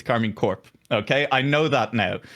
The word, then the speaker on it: Karmine Corp: It's not Karmine Corp, it's Karmine Corp.